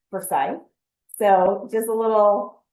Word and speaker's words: Forsyth: And by the way, a lot of people say Forsyth, but I learned it's Forsyth.